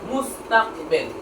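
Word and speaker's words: مستقبل: তারপর আমাদের লাস্ট মুস্তাকবিল। কি? মুস্তাকবিল। যে হালকা যে উচ্চারণ করতে যদি হালকা কঠিন হয়ে থাকে, তাহলে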